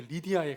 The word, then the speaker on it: 루디아: 루디아라는 사실은 리디아라는 이름의 그 여인이 말입니다. 그래서 사도행전에 리디아를 그리고 루디아를 이렇게 소개하고 있어요. 16장 14절입니다. 두아디라시에 있는 자색 옷감 장사로서 하나님을 섬기는 루디아라 혹은 여러분 발음이 리디아에 가깝습니다.